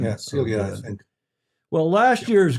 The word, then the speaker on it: Silja: Andrew Pindar in the UK, one of our super foes, he says, indeed, it is Silja, Silja. I guess that's the pronunciation. Yeah, Celia, I think.